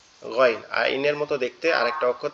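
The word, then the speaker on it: غين: গয়নটা হচ্ছে আমাদের এইযে গালের মধ্যে থেকে অর্থাৎ কন্ঠনালীর শেষ অংশ একবারে গলার সাথে মাথার যে অংশটা লেগে আছে এখান থেকে গাইন গাইন গাইন মনে হবে আওয়াজটা কি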